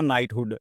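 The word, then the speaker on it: knighthood: Next word है अपना नाइटहुड। इसमें भी के साइलेंट होता है।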